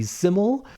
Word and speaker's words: Syml: I'm also very excited to see Syml. If you didn't know how to pronounce it, that's the artist that's SYML, and it's usually always capitalized.